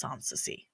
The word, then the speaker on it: Soncasie: It's pronounced Soncasie, okay? I don't care what your eyeballs see. Listen to your ears. It's Soncasie.